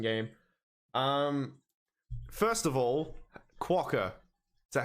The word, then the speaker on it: Quokka: the juicier second game um first of all quacker is that how you say it yeah all